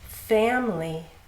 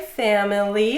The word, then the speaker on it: family: Family, I hear people say family. I hear that quite often, but it's actually family.